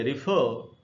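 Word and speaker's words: refer: में American English में पढ़ेंगे ब्रिटिश हम बोलेंगे रेफर और अमेरिकन में बोलेंगे राइफल तो यह सारे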